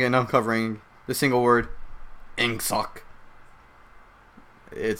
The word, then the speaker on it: Ingsoc: No, Ingsoc with a INGSOC. Ingsoc. There's no other way to pronounce that.